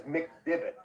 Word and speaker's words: McDivot: i'm saying it correctly it is mcdivot it's like in a bit for golf okay yes great thank